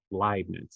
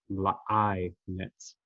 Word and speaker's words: Leibniz: notation and it looks like leibniz but it's pronounced leibniz it's a liveness uh now for our and you don't need